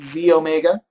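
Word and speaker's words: xEO Mega: one is the E it says XE Omega okay but we pronounce it Z Omega and this is your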